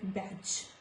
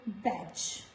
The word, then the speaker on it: badge: Before G in the words like badge. This is not badge. No sound of D, so badge.